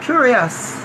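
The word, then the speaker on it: kurios: Greek translation of the Old Testament so uh curious and that's what I pronounced and that word spell k-u-r-i-o-s cures it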